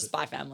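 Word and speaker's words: Spy × Family: or hunter x hunter you actually drop the x i believe i think it's the spy family i think it's just by spy family but it's spelt spy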